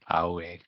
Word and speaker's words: Aoi: Aoi. Yep, got it. AOI. It's hard to pronounce.